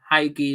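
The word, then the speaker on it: Hegyi: And Trot and Anang, Haigi as well, that's how you pronounce the under 23's keeper's name.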